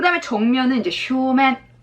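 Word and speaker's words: 正面: 이렇게도 기억을 하시고 그 다음에 정면은 이제 쇼맨 정면도 세이맨이라고 읽으시는 분이 있어요. 뭐 어색합니다. 쇼맨인데 아주 바로 정면이요.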